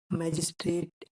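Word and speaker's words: magistrate: एम जी कसोनेंट है इसीलिए इसमें ए का उच्चारण आया होगा क्योंकि ए दो कंसोनेंट के बीच में आया है मैजिस्ट्रेट एम ए जी आई एस टी आर ए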